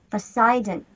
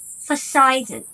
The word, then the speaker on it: Poseidon: Poseidon, the god of water. Повторяйте за мной. Poseidon, Poseidon.